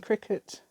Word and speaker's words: Cricut: my friend sent me these these are amazing cricket uh apparently that's how you pronounce it um it looked quite nice on